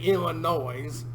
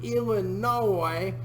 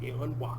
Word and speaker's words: Illinois: came through and settled Illinois. So the O-I-S isn't ois, it's oi because it's French. And if you really want to go ham into it, you do what I do and call Illinois.